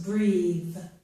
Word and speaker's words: breathe: If I add an E to this word, it becomes breathe, and the TH changes.